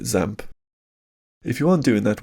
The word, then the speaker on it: XAMPP: way to learn using something like zamp I've also heard it pronounced xampp but let's call it zamp if you aren't doing